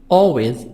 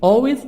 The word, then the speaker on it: always: adverbs of frequency usually always always l silent usually always often sometimes